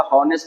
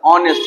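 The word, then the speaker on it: honest: एच को pronounce नहीं किया जाता। हावर नहीं कहा जाता, हॉनेस्ट नहीं कहा जाता। ऑनेस्ट होता है जो वोवेल का साउंड है।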